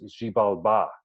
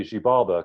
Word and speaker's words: Xibalba: He says it's Xibalba, but I always say Xibalba because I guess the English stress puts it that way.